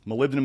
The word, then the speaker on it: molybdenum: Molybdenum is the last mineral we use of the big minerals.